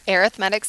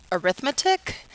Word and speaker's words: arithmetic: Okay, this is section 3.8, formulas for linear arithmetic sequences.